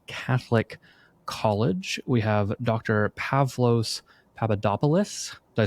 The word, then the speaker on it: Pavlos Papadopoulos: Pavlo Papadopoulos.